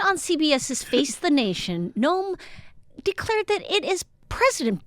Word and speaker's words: Noem: Over the weekend, Kristi Noem, that's how you pronounce it, defended shooting her baby, tiny, fluffy puppy, Cricket, as described in the South Dakota governor's new memoir.